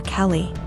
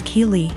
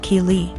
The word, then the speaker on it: Keeley: I realized she was calling my daughter Kelly my daughter's name is Keeley pronounced Keeley so after school was